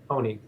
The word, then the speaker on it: Honig: Is that the right pronunciation, Dan? Yeah, that's right. Honig.